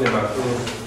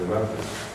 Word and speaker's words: nematodo: del esófago de los nematodos. ¿Qué capítulos ven, muchachos? Importante que también sepan, muchachos, que esta palabra no lleva tilde.